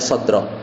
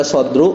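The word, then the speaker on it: صَدْرَ: al ismul Mufrad ya makanya bacanya shodro tapi jangan tanya kenapa mansub ya entar Belum belajar ya gampangnya dia sebagai maf'ul bih Coba nanti ya jadi Oh kenapa enggak dibaca sodru kenapa enggak dibaca sodri ya karena dia mansub gitu ya bacanya sodru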